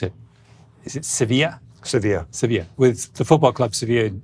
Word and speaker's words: Sevilla: So I know that you guys did some work with, I never know how to pronounce it. Is it Sevilla? Sevilla, with the football club Sevilla in Spain.